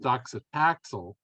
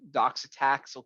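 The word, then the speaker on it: docetaxel: chemo and and I I believe that's pronounced doxitaxel even when they are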